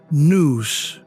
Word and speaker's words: nous: The Greeks called it nous, pronounced noose.